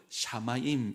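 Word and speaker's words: שָׁמַיִם: 자, 똑같이 시옷과 미음인데 발음을 샤마임 이렇게 합니다.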